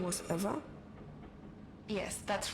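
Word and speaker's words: Ewa: Did you say your name was Eva? Yes, that's right. So you have the same name as that thing? Could you please not compare me to a lifeless machine? Besides, Eva is spelled E-W-A, not E-V-E.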